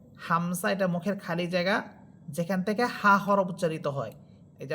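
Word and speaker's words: ظاء: যা হরফের মাখরাজ আপনাদেরকে আগেও বলেছিলাম। যে জিহ্বার অগ্রভাগ সামনের নিচের দুই দাতার আকার সাথে লাগবে। যা যা। যেটা ছিল সিনের মধ্যে। এরপর আমরা পড়েছিলাম সদের মধ্যে যে জিহ্বার অগ্রভাগ সামনের নিচে দুই দাতের আগার সাথে লাগবে।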